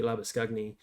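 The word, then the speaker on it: Labuschagne: sh ane so it really should be lab scugni but manusa said he doesn't really mind so i'm going to continue pronouncing it how i think it should be pronounced lovely four it was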